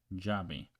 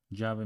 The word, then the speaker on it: llave: So, okay, so caballo, bello, llave. So caballo means horse, bello means beautiful, llave means key. And how would you pronounce it in Argentina?